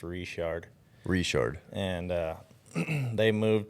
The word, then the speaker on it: Richard: your dad's from Louisiana yeah so it's actually pronounced reshard Richard and uh they moved to Utah in